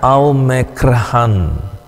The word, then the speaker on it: omikron: rileks yang berikutnya omikron pembacaannya aumekrhan ya ditulis ditransliterasikan sebagai huruf